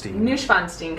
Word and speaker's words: Neuschwanstein: This is the, I'm gonna say it wrong, Robin, the Neuschwanstein Castle? Neuschwanstein Castle.